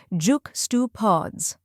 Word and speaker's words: juxtapose: The correct pronunciation is juxtapose. Let's break it down. First, we have juk, which rhymes with luck.